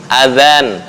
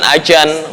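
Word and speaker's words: أذان: Nah, ujung lidah dicepit gigi atas. Ya, zikrum adzan, bukan ajan. Lah, ajan bahasa Betawi. Nah, ini lahjah Arabi harus mengikuti makhraj Arabi.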